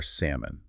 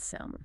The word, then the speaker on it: salmon: The two big mistakes here are salmon, not salmon, never, and calm. The L is completely gone.